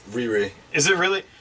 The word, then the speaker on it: Riri: Riri.